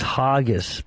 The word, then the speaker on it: Hargis: Yeah, my last name is Hargis, Hargis. Hargius. The U is silent. Hargis.